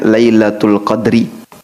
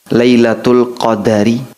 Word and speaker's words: lailatul qadar: Bisa dibaca dengan huruf dalnya di sukun. Jadi, bacanya lailatul qadri. Bisa juga dibaca dengan huruf dalnya di fathah, lailatul qadari. Anda bisa baca lailatul qadri, bisa juga Anda baca lailatul qadari.